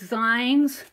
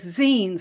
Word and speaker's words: zine: reading the comments and she pointed out I pronounced it as Zs and she said that the the youth in her area pronounce it as Zen like a magazine so I spelled it